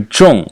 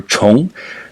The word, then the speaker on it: 重: orange part and you look at the pronunciation of our character as a whole which is either Chong or Chong the final om cluster